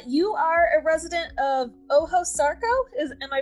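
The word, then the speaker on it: Ojo Sarco: anyways carol uh you are a resident of oho sarco is am i pronouncing that right yes that's fine um can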